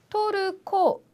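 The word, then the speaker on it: トルコ: 혹시 들어본 적 있으신가요 터키는 타기나 이런 표 이런 단어가 아니라 토르코 하고요 그다음에 아르헨티나는 나라는 아르헨티나가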